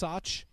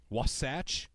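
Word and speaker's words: Wasatch: about the mountains out there the Utah was wasach wasach okay that's the mountain range out there w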